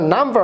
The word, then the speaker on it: numb: এখানে মূলত এটা নাম্বার না, এটা হচ্ছে নাম, NUMB, এটা হচ্ছে একটি অ্যাডজেক্টিভ।